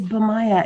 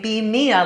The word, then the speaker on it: Bimaya: is that correct um yes it's bamaya it rhymes with my hebrew name nice okay vimaya rhymes with kaya all this time i've been saying be mia like be me i thought oh that's